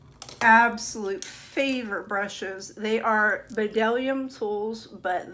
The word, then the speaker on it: Bdellium: They are Bdellium tools, but the B is silent, so it is Bdellium tools.